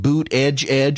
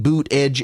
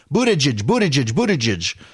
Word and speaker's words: Buttigieg: somebody about Pete Buttigieg, it's actually Pete Buttigieg, not Pete Boot Edge or Pete Butter Judge. And originally it was Pete Butter Judge, and then it became Pete Boot Edge. Well, that's how you pronounce his name, Boot Edge.